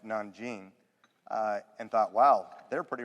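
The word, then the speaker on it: Nanjing: what the japanese did to the chinese which pronounced non-gene and thought wow they're pretty radical we're we're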